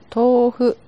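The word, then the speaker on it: 豆腐: これは、とうふと読みます。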